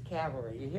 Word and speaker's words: cavalry: cavalry is yeah and notice it's not calvary which we played last night that's a different word a different thing this is cavalry i hear people pronounce